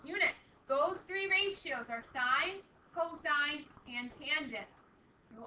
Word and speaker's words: sin: How we often abbreviate sine, it looks like sin, but we still pronounce it sine.